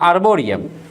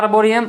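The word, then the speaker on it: arboretum: नाउ A botanical garden exclusively growing trees and shrubs is called आर्बोरेटियम, मतलब आर्बोरियम, ठीक है। Spelling अलग होता है, बोला जाता है आर्बोरियम, लेकिन लिखाता है आर्बोरेटियम, ठीक है, आर्बोरेटम।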